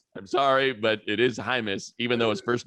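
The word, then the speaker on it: Jaimes: jamie's he looks good i like him i said yeah i said it's actually pronounced hymus and he said wait a minute the uh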